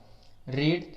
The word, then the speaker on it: read: इसके बाद बीइंग लगाना है, बीइंग, बीइंग, और वर्ब की थर्ड फॉर्म रीड, यहाँ पे हो जाएगा रेड, READ। स्पेलिंग सेम रहती है, बस पढ़ने में थोड़ा अंतर कर देते हैं।